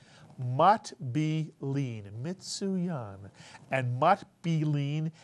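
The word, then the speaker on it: מטבילין: Second syllable is easy. B. And the third syllable is easy. Lean. Mitsuyan. Put the word together. Mat be lean.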